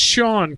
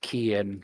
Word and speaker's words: Kian: wrong, but it's pronounced Sean, correct? No, it's actually pronounced key in, like putting a key in a door.